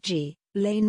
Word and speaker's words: Ghislaine: a separate civil case her name is phonetically pronounced g lane max well according to today resman